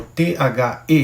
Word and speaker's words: the: Mas quando o th ele começa e esse th é o th e que na verdade é um artigo, você fala diferente, fala um pouquinho mais forte. The é quase um d com z.